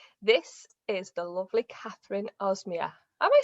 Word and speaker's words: Ozmaya: This is the lovely Kathryn Ozmaya. Am I saying that right, Kathryn? Well, we're nearly there, but it's one of those funny names that nobody quite gets. So it's actually pronounced Ozmaya, but Ozmaya will do, or just call me Kathryn.